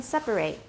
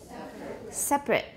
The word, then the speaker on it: separate: go over that again the verb is separate three syllables everyone separate separate the adjective is separate separate good all right to